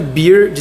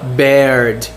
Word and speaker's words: beard: Todas essas palavras são escritas de forma muito parecida, exceto bear de cerveja. Por exemplo, vou pegar a palavra urso. Ela se escreve B E A R, se pronuncia bear